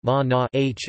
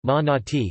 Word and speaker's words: Manāt: Manāt Arabic, Manāt Arabic pronunciation, Ma-na-h oblique case, Ma-na-ti construct state, also transliterated as Mana, was one of the three chief goddesses of Mecca.